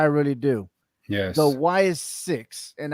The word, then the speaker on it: Sicks: Wyatt six. And I like the way that they say six because they spell it SICKS with the six at the end.